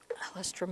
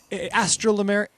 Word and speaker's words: Alstroemeria: Alstroemeria. No, there it is. You said it. I didn't say it. Alstroemeria. Did I say it a little bit? Astrolameria.